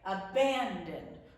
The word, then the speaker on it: abandon: So in abandon, we don't say abandon. We don't say abandon. We say abandon. We put the emphasis on the middle syllable.